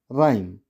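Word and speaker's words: rhyme: For example, handsome राइम। अब handsome जो है इसमें डी साइलेंट है, इसको हैंडसम नहीं बोलेंगे, हैंडसम बोलेंगे। क्यों? क्योंकि डी साइलेंट है। वैसे ही राइम में एच साइलेंट है।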